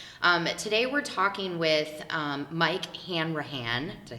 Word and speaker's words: Hanrahan: Today we're talking with Mike Hanrahan. Did I say it right? You got it. Yes. I have it phonetically spelled out on a piece of paper,